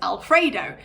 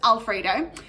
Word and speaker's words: Alfred0: And quite often, most of the time, that's pronounced as Alfredo. So he's known as Alfredo.